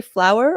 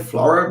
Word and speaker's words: Floower: does it have a special pronunciation it has two o's yeah uh we tend to call it flower but it sounds more like flavor but the flower is more like kind of french that way um anyway so great